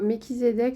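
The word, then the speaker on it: Melchisédech: j'ai tiré l'ordre de mekizedek donc l'ordre de mekizedek là on a un guide à haute fréquence vraiment un être de lumière très haut ici hein donc prononcer méchisédeek ça signifie roi de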